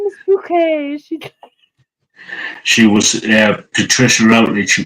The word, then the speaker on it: Bucket: She'd always say my name is Bouquet. Yeah, Bucket.